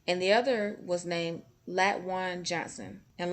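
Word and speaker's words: Latwon: the other was named lat one johnson and that one's name is spelled l-a-t-w-o-n so i pronounced it lat one how does that sound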